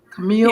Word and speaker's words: Camille: And am I pronouncing your first name right? Camille?